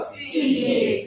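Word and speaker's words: caeca: Kaisa pronounce kare sir? CK.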